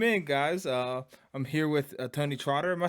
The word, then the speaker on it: TonyxTrotter: I'm here with TonyxTrotter. Am I saying that correctly? Yep. No X. You don't pronounce the X, so yes, Yeah, sir.